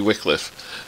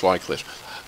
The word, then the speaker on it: Wycliffe: So, for most of my life, I was known as Wycliffe, especially up in the north. If I go home to Bolton, people call me Wycliffe, when the correct pronunciation is Wycliffe.